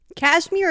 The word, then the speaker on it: KSHMR: Turns out Kashmir is spelled Kshmr, just by the way, like the DJ.